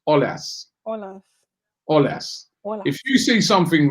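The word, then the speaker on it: Aulas: the leon president name the a the au in his name is pronounced o so it's olas i'm not french right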